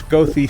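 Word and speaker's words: Goethe: I didn't know including how to pronounce gothy State Forest yeah I always called it ghost that's what I did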